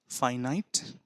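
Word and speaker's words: finite: আবার অপোজিট যে মিনিং হয় তার আবার এক উচ্চারণ ভালো করে বিষয়টিকে নোট করুন তাহলে এফ আই এন আই টি ই ফাইনাইট আই এন এফ আই এন আই টি ইনফিনাইট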